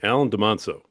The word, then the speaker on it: Alain Dumonceaux: Alain Dumonceaux. How you doing, Alan? I'm doing great, Rory, and that's actually perfect pronunciation.